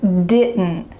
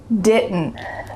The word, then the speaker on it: didn't: Do you hear my throat making that little schwa sound?